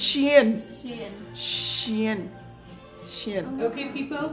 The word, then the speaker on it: Shein: The pronunciation is Shein. I don't know if it's Shein or Shein. I think it's Shein. Shein. So it's not Shine and it's not Shane and it's not, I don't know what else.